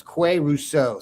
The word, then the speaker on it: Qua Russaw: Now, this guy's name is spelled Quarussa, and it's Qua Russaw.